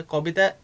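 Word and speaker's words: কবিতা: कोबिता, ये जो कविता जो होता है, कविता का बंगाली प्रोनाउंसिएशन यहाँ पे कोबिता।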